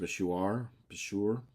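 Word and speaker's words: Bushehr: This area is specifically this right here, and I believe it's pronounced Bashur, and it's a nuclear powerhouse.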